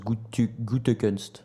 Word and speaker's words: Gutekunst: J'ai lu un tweet qui disait que ça se prononce Gutekunst.